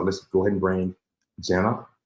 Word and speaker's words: Gena: uh today so let's go ahead and bring Jenna how you doing hi thank you and I